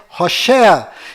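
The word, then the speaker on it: הושע: se mudou para josué mas a pronúncia correta de oséias é rocher e quando moisés mudou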